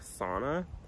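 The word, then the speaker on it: Sanne: to pronounce it but on the website it says it's pronounced something like sauna so I'm just gonna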